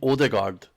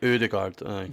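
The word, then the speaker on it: Ødegaard: I think it's like an like so if it was I think odigard is meant to be pronounced like like udard right so this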